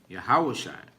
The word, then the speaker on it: Yahushua: so Hamashiach meaning Messiahs, Yahushua, that's how you pronounce Christ's name in the Hebrew, Yahushua, okay?